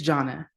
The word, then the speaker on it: Janna: Jana or Janna. Want to make sure that I'm um pronouncing your name correctly. Please pronounce it for me and then go ahead and ask your question. Uh it's Janna.